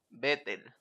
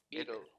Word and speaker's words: beetle: Que se llama Doug Bettel. Beetle. Se pronuncia Beetle, ¿eh? Cuidado, como los Beatles.